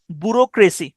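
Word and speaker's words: bureaucracy: আউ আর সি আর এ সি Y crazy বুরোক্রেসি উচ্চারণটা হচ্ছে বুরোক্েসি কিন্তু স্পেনটা হচ্ছে বি ইউ আর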